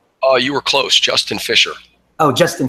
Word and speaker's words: Fisher: Maxwell Sanchez and Justin late is did I pronounce that correctly oh you were close Justin fiser oh Justin fiser I'm sorry and they are from Vera block